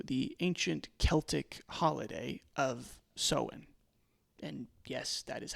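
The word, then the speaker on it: Samhain: Now, because of its spooky nature, Halloween has been tied back to the ancient Celtic holiday of Sen. And yes, that is how it's pronounced.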